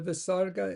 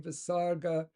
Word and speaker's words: visarga: The Visarga is often pronounced similar to ch in German Bach or Scottish loch. Okay, often pronounced similar to ch in German Bach or Scottish loch, but slightly weaker. You may also hear it pronounced like a standard ha, with a weak repetition of the preceding vowel, making naraha, naraha.